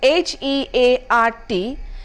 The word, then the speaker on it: heart: The last word on my list here is HEART, which is a heart and not the hurt.